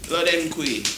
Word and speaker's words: Lodenquai: The lady, the one and only LQ Lindsey Lodenquai. Hey. Did I pronounce it right?